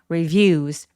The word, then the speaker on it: reviews: 첫 번째 음절는 힘을 좀 빼 주세요. reviews.